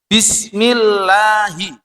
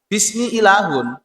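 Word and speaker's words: بسم الله: Kalau tidak double maka hilang salah satu hurufnya. Contohnya dalam lafadz jalalah, lafadz Allah. Itu misalnya bismillah, lahnya ini tidak bermakna Allah, tapi bermakna Tuhan secara umum. Berasal dari lafadz ilahun. Ilahun, bismi ilahun. Iku bacanya tidak disyiddah. Akhirnya dengan menyebut Tuhan, Tuhan pada umumnya, bukan Tuhan yang tertentu, yaitu Allah. Tapi dibaca huruf syiddahnya bismillahi. Nah itu sudah betul.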